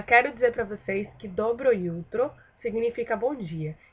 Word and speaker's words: jutro: Pois é, esse dobro jutro aí, na verdade, é dobro jutro. E é dobro jutro porque o J em sérvio, no alfabeto sérvio, ele não tem som de J, e sim de IU, pra gente brasileiro, certo?